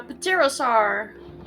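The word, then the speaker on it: pterosaur: hannah changed into a paterosaur with my aerial form ariel from there what the is that the p is silent medium all right so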